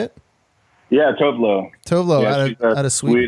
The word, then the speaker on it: Tove Lo: Yeah, Tove Lo.